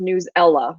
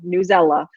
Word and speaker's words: Newsela: to make sure you know because is it new zla is it newsela and it is pronounced newsela newsela so I just want to share that out